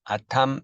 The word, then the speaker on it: ATAM: 평가 방법은 우리 시물수경으로 외우는 시나리오 기반, ATAM, ATAM, SAAM, 아탐, 쌈이라고 읽죠.